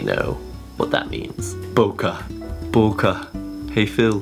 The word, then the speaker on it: bokeh: Bokeh. Hey Phil, bokeh. Bokeh. I actually don't know how to pronounce it. I call it bokeh. In Japanese they would say bokeh, so it's pretty much the same.